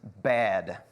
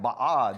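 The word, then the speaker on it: בד: The Hebrew word for alone is bad. And it's spelled the same, and it's pronounced the same. I thought, oh, okay, it's B-A-D. Like, I clicked on the pronunciation, it'll do like the audio thing, and I was like, oh, it's probably something fancy like ba'ad or something. No, it's just bad.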